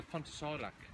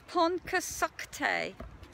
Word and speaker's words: Pontcysyllte: I always call it the Pontycysyllte. I've been talking to a lovely couple called Pete and Joe, and they told me it's Pontcysyllte.